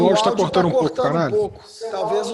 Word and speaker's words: Canali: Aqui, ó, aqui embaixo, esse canal com a pronúncia correta é Canali. Canali.